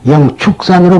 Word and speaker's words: 영취산: 그래서 제가 하나 말씀드리는데 앞으로도 우리가 영취산으로 나오는데 그걸 또 우리나라에서는 영취산이라고 발음을 안 합니다. 영축산으로 발음을 합니다.